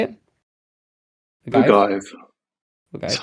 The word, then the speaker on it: ogive: Or in, I don't know how to pronounce this, ogive, a pointed arch. Ogive. Arc. Gov? How do you say it? Ogive? Ogive.